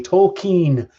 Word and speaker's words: Tolkien: Tolkien is how he pronounced it.